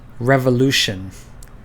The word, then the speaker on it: revolution: Take this word for example, revolution. The way that we pronounce this word is we emphasize the U in the middle of the word.